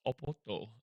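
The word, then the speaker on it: Oporto: a Portuguese fast food restaurant apparently from the city of Porto but it's pronounced oppoto.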